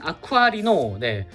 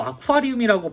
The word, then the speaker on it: 아쿠아리노: 자, 다음은 서브메카인 아쿠아리노. 아쿠아리노라는 발음이 묘하게 어렵습니다. 자꾸 아쿠아리움이라고 발음하려고 하거든요, 제가.